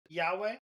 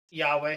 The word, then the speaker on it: Yahweh: So yeah, you could consider that me learning the true purpose of Yahweh or Yahweh. However you say. How do you actually pronounce it? Yahweh. Yahweh? Yahweh.